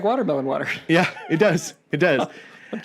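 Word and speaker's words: WTRMLN WTR: Which is watermelon is spelled WTRMLN. So it's watermelon. That's the future. Yep. They're here. They've arrived. And then their spelling for water is WTR. So it's watermelon water.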